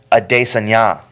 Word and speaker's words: Adesanya: It's Adesanya. Yeah. I always thought it was Adesanya, not Adesanya, but it's Adesanya.